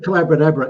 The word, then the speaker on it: Collabra: it's the mag it's called collabra it rhymes with uh abracadabra because uh I was